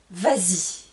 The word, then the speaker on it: vas-y: Par contre, encore une fois, avec les pronoms en ou I, Y, là je vais dire vas-y. Vas-y et je rajoute un S pour la liaison, pour la prononciation.